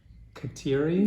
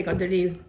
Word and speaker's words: Kateri: <Tony> And proper pronunciation of Kat-eer-ee? <Beverly> "Gah-dare-ee. In Mohawk that's what we say Gah-dare-ee, Gah-dare-ee Day-gahd-wee-tuh....means um if